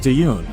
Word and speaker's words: Taehyun: And I think we've been saying his name wrong too. I believe it's pronounced Taehyun.